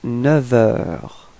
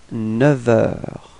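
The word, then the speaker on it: neuf heures: change the sound, so we won't pronounce the F, but it would sound a bit more like V, like a V, okay?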